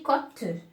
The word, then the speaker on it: côte: Donc ici, côte, l'hôpital, là aussi la prononciation de O, pardon, n'a pas changé.